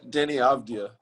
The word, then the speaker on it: Deni Avdija: Deni Avdija, is that the correct way to say his name? Yeah, Deni Avdija.